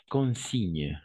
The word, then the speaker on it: consigne: En français, on va dire la consigne, ok? La consigne, parce que la combinaison de G et N, on va prononcer comme un N, d'accord?